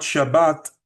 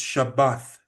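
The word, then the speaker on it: שבת: The point of this was to share that in my heritage, it's not Shabbat, it's Shabbath. Shabbath, Shalom.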